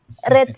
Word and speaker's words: read: Read Enggak. ada S-nya. Cuma read. Enggak pakai. Enggak pakai. Kalau red kan merah. Red. Ini bacanya read.